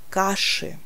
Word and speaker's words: каши: Je vous rappelle qu'après la lettre chat, on écrit toujours I, mais on prononce toujours E. Écoutez bien, au pluriel, je dis каши.